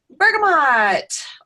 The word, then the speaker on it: bergamot: knowledge and information about bergamot or Bergamo depending on your language however you choose to pronounce it this is gonna be